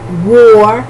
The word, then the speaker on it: wore: Okay, to wear, wore. W-O-R-E. It sounds like guerra, la guerra, no? Like war, like fighting, W-A-R. There's homophones, and worn, W-O-R-N, worn.